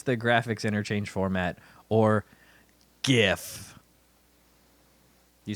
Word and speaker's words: GIF: Oh, did the inventor of the GIF say it's GIF? That's correct. Oh, man. Wow. To me, I bring That's it back to it's I for graphic, which is a hard G.